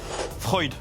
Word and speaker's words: Freud: Freud. Sigmund. Oui. Tranchant, coupant. Oui. Eh, ça fait plaisir. En plus, vous avez prononcé Freud comme il fallait et tout.